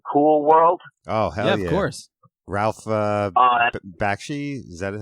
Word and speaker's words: Bakshi: you guys seen cool world Oh horse Ralph Bakshi's that is how you pronounce his name did the animation for that